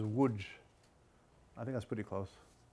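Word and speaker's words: Łódź: what we say Lud's which is my grandmother pronounces wood I think that's pretty close el old easy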